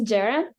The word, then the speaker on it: Ceren: so my name is Jared of the the um it's pronounced with a J as a Turkish name for those who don't